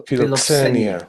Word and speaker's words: philoxenia: And one of the terms, I wasn't familiar with this term, but philoxenia. Xenia. Xenia. Xenia. It's the X is pronounced KS in Greek. So philoxenia.